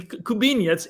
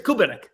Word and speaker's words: Kubinek: Is it Kubiniak? In Poland, the Kubiniec. In here, it's Kubinek. Kubinek.